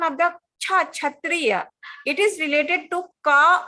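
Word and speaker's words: क्षत्रिय: Sha, Didi. Not cha. There's no cha sound there. It's sha. Ka and sha. Kshatriya.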